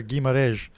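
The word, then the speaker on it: Guimarães: out there too because you actually said the name as i expect to hear gui mares so you got the the end of it perfectly right so so many people butchered the end of that name i've been practicing awesome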